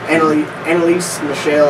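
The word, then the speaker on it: Anneliese Michel: Annalise Michelle, I think is how you say her name.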